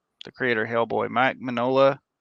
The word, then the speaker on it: Mignola: The creator of Hellboy, Mike Mignola.